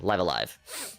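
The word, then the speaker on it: Live A Live: the game in japanese it says so yeah live alive and um that would have been a good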